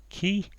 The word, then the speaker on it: qui: Marquis who in France so who in France is key my French pronunciation is not good it's pretty much 40 years since I last went to French class key I think and admitted to damage